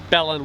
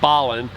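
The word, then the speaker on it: Belen: our new mexico video saying the town was belling when it's actually ballin i want to make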